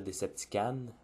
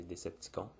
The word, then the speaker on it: Decepticon: Je sais qu'en France, on est porté à dire Deceptican, mais c'est pas la bonne prononciation, c'est Decepticon. En anglais, on dit Decepticon, mais au Québec, on dit Decepticon. Je suis conscient que le mot con à la fin, ça sonne suspect, mais bon, c'est comme ça que ça s'écrit, c'est comme ça qu'on le prononce.